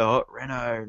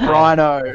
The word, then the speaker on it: Hot Reno: I think there was a stage when we first started playing, like before we played, I'm like, hey, we're Hot Reno, not Reno, not Rhino.